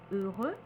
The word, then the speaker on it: heureux: ajoute le E exemple heureux heureuse courageux courageuse donc le X ne se prononce pas par contre on prononcera le se de manière très atténuée comme the the heureuse courageuse attention il y a des